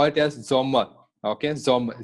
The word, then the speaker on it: Sommer: Okay, yes is pronounced as Z. So summer, you're gonna call it as Zommer.